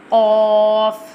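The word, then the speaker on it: قاف: Qaf pronounced from the root of the tongue touching the soft part of the palate, top of the mouth. Like this. Qaf.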